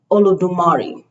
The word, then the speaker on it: Olodumare: So it's Olodumare, okay?